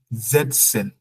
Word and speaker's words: setzen: So please pronunciation E wie Ida. Sitzen und setzen.